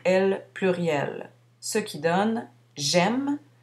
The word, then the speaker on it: aime: pluriel, ce qui donne j'aime, on prononce le M mais non le E final, tu aimes, il aime, nous aimons, ici le S final est muet, vous aimez, ils, elles aiment.